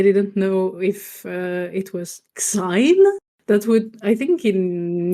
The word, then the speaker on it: Xein: It's just like Korean people pronounce it like Jane. Yes. Like not X, it's like Jet.